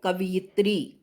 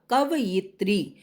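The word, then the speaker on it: कवयित्री: कवि और उत्तर है कवित्री ध्यान रखिए मात्राओं का अक्सर उच्चारण में भी गलत बोला जाता है लोग कवित्री बोल देते हैं कवित्री कवित्री नहीं होता कवियत्री जब हम सही उच्चारण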